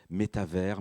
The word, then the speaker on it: métavers: Juste avant, vous allez m'entendre dire métavers, metaverse. Il y a plusieurs prononciations. Métavers, c'est en français, c'est comme univers, un méta-univers.